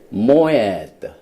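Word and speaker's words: מועד: 그래서 샤밧을 지키는 자들이 엄청난 축복을 누리게 되는데 이 히브리 말로 이 절기라는 것은 모에드, 오 발음이죠.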